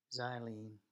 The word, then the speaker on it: xylene: so war and uh xylene that's pronounced with a Z right xylene doesn't mix